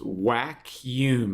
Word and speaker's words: Wackuum: options authorities vacuum - it's pronounced whack Hume like a vacuum implying the vacuuming up of profit points okay it's getting a